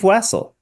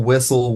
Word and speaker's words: Wessel: So, it's Wessle. Yeah. Yeah. I am a Wessle. This is my last name. Uh I've been called Wessle. Whistle. Whistle. Weasel. Russell. But Wessle works.